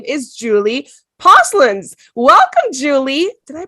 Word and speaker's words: Posluns: She is the founder of Cat School, and her name is Julie Posluns. Welcome, Julie. Did I pronounce that properly?